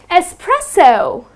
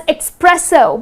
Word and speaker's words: espresso: the coffee shot right many people tend to say it as expresso but it's not expresso it doesn't have X